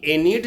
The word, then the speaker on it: Aeneid: एनीट, इसका स्पेलिंग है AENEID, एनीड है, ठीक है।